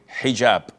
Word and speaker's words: hijab: in hotel or but this is an Arabic word. So we Muslims we have to say hijab.